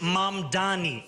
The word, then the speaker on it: Mamdani: And furthermore, the name is Mam Dani. M A M D A N I. You should learn how to say it because we got to get it right.